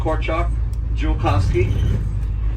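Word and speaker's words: Korczak Ziolkowski: All this project was started by a guy named Korchak Julkowski, and that's where you pronounce his name.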